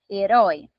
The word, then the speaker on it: herói: Herói, qual que é a mais forte? A última. E termina em ditongo aberto.